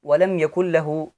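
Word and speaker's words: ولم يكن له: यकुल लहू, इसे हम वलम यकुल लहू पढ़ेंगे, इसमें नून नहीं पढ़ेंगे क्योंकि यहाँ इदगाम होगा।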